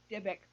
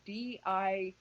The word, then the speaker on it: Dybbuk: And if you actually Google it, it's called the Dybbuk box. Depending on if you want to spell it with a Y or an I, it's Dibbuk.